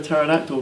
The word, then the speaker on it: pterodactyl: Why can't you hear a pterodactyl go to a toilet? Because the P is silent.